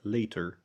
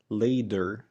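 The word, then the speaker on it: liter: حاجه تاخد بالك منها ان ده مش صوت حرف الدي احنا ما بنقولش ليدر احنا بنقول ليتر هنطقلك الاتنين ورا بعض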